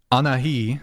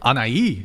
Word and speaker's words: Anahi: Anahi, did I say it right? No. Should I just say bangs? No. I can't pronounce your name. Anai? No. Anai. Anai? Yes.